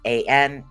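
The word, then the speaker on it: Ansuz: So what we are dealing with is Anzus, is the way that this is pronounced. Ansooz, and Zeus is the way that it's actually pronounced.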